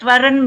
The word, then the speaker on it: waren: Het waren mooi. Tunggu. Warennya wa-nya dibacanya panjang.